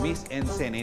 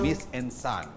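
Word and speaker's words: Mise en scène: celebration ng 18th Annual Miss en Scène. Yun daw ang tamang pronunciation sa French. So, Miss en Scène. Hindi naman ako French, kaya pwede rin siguro Miss en Scène, na inorganisa ng AB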